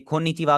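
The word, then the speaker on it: こんにちは: के अंदर जो है, अगर आप देखेंगे खोन नीचिवा अगर लिखा हुआ हो जापानीज में, वो इस तरह लिखा होगा खोन नी ची वा। लेकिन अगर आप देखें, ये जो हमारा लेटर है, ये तो एक्चुअली जापानीज का हा लेटर है, ठीक है।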